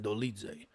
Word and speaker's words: Dolidze: We have Roman Dolidze taking on Nasruddin Imavov.